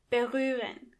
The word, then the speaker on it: berühren: First of all, the H is silent.